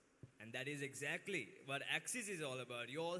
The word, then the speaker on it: Axis: Have any of you all noticed when you take the 3 letters X, Y, and Z, they pronounce the same name as Axis. Axis, Axis. So X, Y, Z, pronounced as Axis.